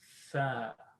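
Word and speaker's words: ث: If you're pronouncing it at home, right, use a mirror or use a selfie camera, and tha, you should be able to see your tongue come out.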